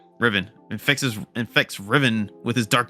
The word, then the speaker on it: Riven: doing it, it's Vexius who brainwashes or infects Revan. I'm messing it up again. How do you say his name? Riven infects Riven with his dark magic and turns him into another spy.